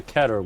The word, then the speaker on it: Keter: And it's called the Keter, which rhymes with cheddar.